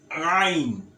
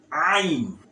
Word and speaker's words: ain: Now this one is ain. Ain. Ain. Ain.